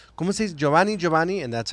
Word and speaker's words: Jhovany: I was gonna say so your Giovanni Diaz the the ways that's how you say it the way the way you uh spell it is that how you always like with the JH that's how my name